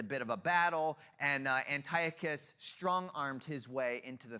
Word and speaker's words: Antiochus: His name was Antiochus Epiphanes, or I always pronounce that wrong. Antiochus, there it is.